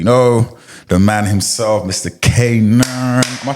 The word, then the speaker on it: Kanaan: Kanaan. Am I pronouncing it right? Kanaan, yeah.